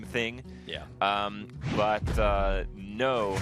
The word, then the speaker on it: Kno: yeah um but uh no as in like I will fight with honor the n o like the no of knowledge kind of how we